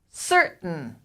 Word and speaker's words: certain: to pronounce it properly in american english the t is a glottal stop certain certain certain certain if